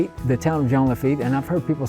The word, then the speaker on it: Jean Lafitte: You say Jean Lafitte, the town of Jean Lafitte, and I've heard people say Jean Lafitte, which is it? I just think it should be said with a French pronunciation.